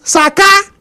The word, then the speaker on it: Saka: It's not Bukayo Saka, it's Saka. Bukayo Saka. That's how we pronounce it.